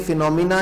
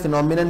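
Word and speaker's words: phenomena: मंडिडिटी फिनोफेना दोनों बोलते फिनोमिना ही है दोनों शब्द को फिनोमेना बोलते हैं फिनोफेना किसी को नहीं बोलते स्पेलिंग डिफरेंट है एक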